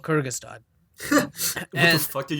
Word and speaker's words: Kyrgyzstan: It's Kyrgyzstan. Kyrgyzstan. Okay, Kyrgyzstan.